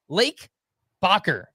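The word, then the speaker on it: Lake Bachar: Lake Bcker, which is spelled B A C H A R in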